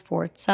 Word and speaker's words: Forza: I talked to my grandma who speaks Italian, and I was like, this word, I kept coming back to, it's pronounced Forza.